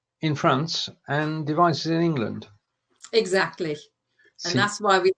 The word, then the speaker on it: England: Weibringen ist die Partnerstadt von Mayenne in Frankreich und Devizes in England. Except you need to pronounce it in German, so it's in England. England.